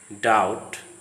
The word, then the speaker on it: doubt: Again, when the B sound is before a T sound, the B is silent, as in the following words: date, doubt, subtle, debtor, doubtful.